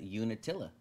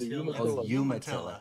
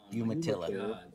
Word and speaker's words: Umatilla: I am having fun with every time you say Unatilla. Isn't that a fun word to say? Hold on. First off, you're saying it wrong. Umatilla. Yuma. Umatilla.